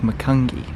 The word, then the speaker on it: Macungie: We're about 5 hours south in the town of, I believe it's pronounced Macungie.